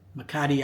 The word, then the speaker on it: Makati: Makati, I call it.